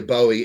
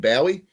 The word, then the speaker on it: Bowie: It is like the knife. People say you hear it see it said a couple of different ways. You hear Bowie and Bowie.